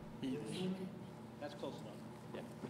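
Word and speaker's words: Heatley: looks like Heatltey. That's close enough. Yeah. Spell it. Yeah, it's Heatltey, H-E-A-T-L-E-Y.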